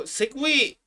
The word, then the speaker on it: segue: like can English wait so segway is pronounced like that or written like that okay